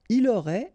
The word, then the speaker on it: aurait: Il aurait, elle aurait, final T not pronounced, so phonetically exactly the same form here.